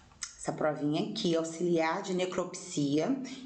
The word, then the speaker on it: necropsia: E algumas pessoas vão falar, Sandra, necropsia, não é necrópsia? Existem as duas grafias, mas para ser necrópsia tem que ter um acento aqui. Não tem um acento aqui, nessa sílaba, cro, não tem, né? O cro. Então, para ser necrópsia, teria que ter um acento aqui. Não tem, então eu vou ler necropsia, ok?